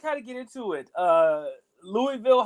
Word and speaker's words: Louisville: trouble of saying Louisville, I always tell people, say it like you got food in your mouth. Louisville. There you go. Louisville.